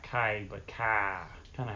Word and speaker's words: Kiah: actually is the pronunciation of the proper pronunciation of this. The reason that my name is Kai, though, and not, is because all my family's from the Appalachian Mountains. You know, East Tennessee, Johnson City, Bristol, Kingsport. If you ever heard that accent, they take two syllables and make everything one.